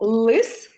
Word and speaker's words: лис: А слово лис ми вимовляємо твердо і він позначається однією рисочкою. Так, молодці.